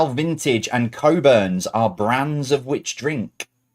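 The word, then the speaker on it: Cockburn's: ice stands for Immigration and Customs what it's pronounced anounced coburns right they had this in running pubs for years okay it's coburns uh number four what is the name of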